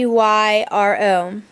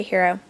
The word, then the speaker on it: gyro: and it's spelled g g-y-r-o now most people pronounce it gyro so but i was told that the greeks pronounced the g like an h so that's why i say hero when i was little